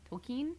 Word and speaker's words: Tolkien: Lord of the Rings and Tolkien's world tokine's tokine Tolkien how do you say it I always